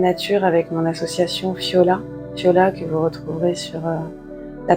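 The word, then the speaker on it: Phiola: Fiola que vous retrouverez sur la page Facebook. Donc Fiola, ça s'écrit P-H-I-O-L-A. Comme les fioles en grec, puisque je travaille avec des fioles d'eau d'harmonisation énergétique que j'ai créées.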